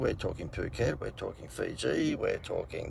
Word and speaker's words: Phuket: No, you've got to pronounce that right. It's not Phuket. I think it's Phuket.